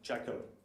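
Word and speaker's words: J2CL: Its name is G2CL for Java to Closure, and we have to pronounce that Jackal.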